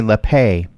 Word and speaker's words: Lappe: a French Canadian, that I had been pronouncing your name wrong last time we talked, and it's Lappe.